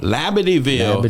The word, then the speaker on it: Labadieville: Am I pronouncing it right? Labadieville? Labadieville.